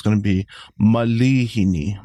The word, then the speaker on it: malihini: say mispronunciation but yeah a lot of people think there's a actual a after the the L but it's I so it's going to be Malini Malini Malini yeah there you